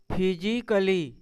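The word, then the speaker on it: physically: यहां भी ए के बाद डबल एल और वाई आया है। तो यह क्या हो जाएगा मेरा? साइलेंट हो जाएगा। पढ़ेंगे नहीं। तो इसको क्या पढ़ेंगे? फिजिकली। क्या पढ़ेंगे? ए अगर नहीं पढ़ेंगे तो क्या हो जाएगा? यह फिजिकली।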